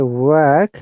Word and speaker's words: work: And if you say work, that is W-R-K, where R is silent in British IPA, because I tried to follow the British IPA.